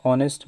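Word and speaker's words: honest: है ही is dash ऑनेस्ट मैन तो देखिए यहां पर आपके फिर से आपके यहां पर वल साउंड है इसलिए यहां पर क्या यूज होगा एन यूज होगा ही ज ही इज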